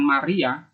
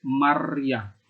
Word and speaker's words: Maryah: Maria atau strata diisi ada jemaat yang mengucapkannya pakai hak maryah ya bukan Maryam ya ini beda bukan Maria tapi maryah Nah inilah keuntungan kalau